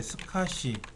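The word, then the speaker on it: SCSI: 스카시라고 읽고요. 이건 사스라고 읽어드리는데 이런 하드를 달면은 어마어마하게 빠르죠.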